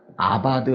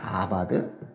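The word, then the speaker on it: עבד: 일구다라는 건 어떻게 발음하냐면 아바드 한다고 그러거든요. 아바드. 이제 지키다라는 건 샤마르 한다고 그래요. 샤마르.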